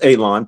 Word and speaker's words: Alon: My My name is Alon, pronounced like you're going to cut grass, like you're going to cut a lawn. It's not spelled that way, but it is pronounced that way.